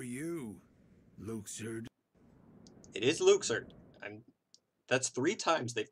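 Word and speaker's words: Luxord: is who are you Luke sued it is Luke surd and that's three times they've pronounced it edit is Luke sir I'm sorry it sounds weird - but okay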